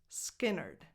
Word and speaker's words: Skynyrd: Skynyrd. Ske, lax e, nerd, which rhymes with Leonard.